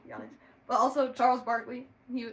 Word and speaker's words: Giannis: Giannis um so we I just know they call him Yannis but also Charles Barkley